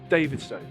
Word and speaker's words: Stow: We've come to visit Stow Airfield, and I apologise if at any other point I've called it Stow. I now know the correct pronunciation is Stow.